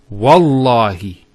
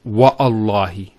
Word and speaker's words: Wallahi: So when we put this waw, it's Wallahi, not Wa'allahi.